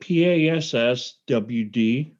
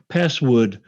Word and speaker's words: passwd: Um, Password? Isn't it PASSWD? No, it's password. Oh, okay. Well, then never mind. Not such a good story, but I remember you saying password.